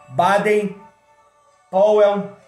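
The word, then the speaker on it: Baden Powell: bairro Power no centro pronúncia correta do nome dele Baden pawell Bezerra da Silva Raul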